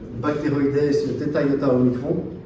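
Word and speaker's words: Bacteroides thetaiotaomicron: Donc vous avez une bactérie qui s'appelle Bacteroides theta omicron, comme ça se prononce.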